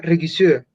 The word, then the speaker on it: Regisseur: Es del alemán, pero creo que la toman de otro idioma. Yo creo que es del francés y no se pronuncia como lo pronunciaríamos en alemán, sino que suena Regisseur.